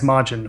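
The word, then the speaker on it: 魔人: Um, and the thing is, okay, there's actually two different words for majin that are both pronounced as majin, which is sort of confusing, but yeah, it is.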